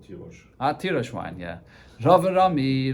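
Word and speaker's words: תירוש: Well, Karinan though, but the way it's pronounced is Tirosh.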